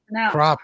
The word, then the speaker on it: crappie: crappie. Thank you very much. If if it was supposed to be said like that, it would be spelled like that. Crappie, but it's crappy.